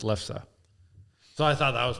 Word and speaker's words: lefse: I mean, if you look at it, that's how it's spelled: Lefsse. Yeah. So it looks, but it's lefse.